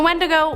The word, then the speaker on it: Wendigo: Creature number 7, the Wendigo. So the Wendigo, or sometimes pronounced Wendigo, has been talked about as having the power to curse humans by possessing them.